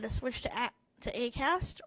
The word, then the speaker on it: Acast: switch to a to acast or AUST as my computer pronounces it um aast aast